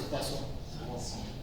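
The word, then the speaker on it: Poisson: de cuason no eh poison se escribe poison pero es pasón creo que sí son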